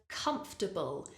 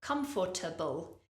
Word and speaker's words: comfortable: up is the word comfortable the mistake that people often make with this word is they give it too many syllables for example people might say comfortable it doesn't help that